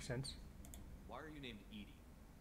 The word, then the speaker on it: EDI: why are you named Edie Edie is the phonetic pronunciation of EDI that is an acronym for enhanced defense intelligence yeah I'm pretty sure